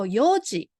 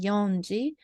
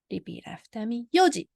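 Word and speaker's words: 四時: a simple one and then there are irregular pronunciation ones so for example Yoji so four clock is four itself is Yom but we don't say yonji we pronounce as Fuji Yoji then so seven o'clock is not an energy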